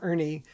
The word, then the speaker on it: ERNY: The input is a batch of recorded discovery interviews, and the output is what I call the Ernie value, where Ernie is spelled e r n y and it stands for